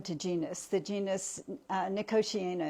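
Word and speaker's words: Nicotiana: genus the genus uh nikosi is the way I pronounce it some other people pronounce it differently niiko Tiana and it's assumed that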